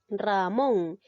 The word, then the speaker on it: Ramón: tipo de palabras son ramón lleva la mayor fuerza de voz en la sílaba mont inglés en la sílaba